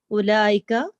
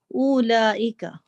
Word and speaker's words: أولئك: Note that the vowel in ulaika is not pronounced. The word is pronounced ulaika, not ulaika.